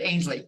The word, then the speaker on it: Ainsley: Ansley, Ainsley. I don't know how to write that fucking phonetically. Like pain, like Painsley, but Ainsley, right?